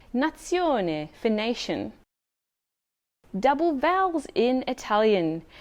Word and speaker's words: nazione: for cup or mug when z or zed is followed by the letter i it also has its sound for example nazione phonation double vowels in